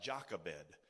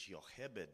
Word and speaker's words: Jochebed: So when Jochebed, it looks like Jochebed in English, but the Hebrew pronunciation is Jochebed.